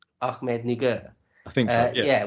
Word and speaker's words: Ahmednagar: How are you pronouncing that? I think it's Ahmednagar. Ahmednagar.